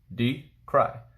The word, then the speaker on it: decry: is to be approval decry d cry so the word is d cry what that is to